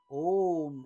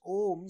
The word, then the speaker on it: Om: symbol of the absolute when you pronounce om spelled in Sanskrit as a-u-m with a the mouth is open the sound comes from the bottom of your throat with you the sound